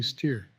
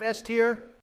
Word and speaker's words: S tier: In that case, maybe A tier or quite possibly steer. Did you really just say steer instead of S tier?